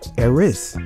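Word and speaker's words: ἔρις: see the words variants the greek word is pronounced heiress which means strife discord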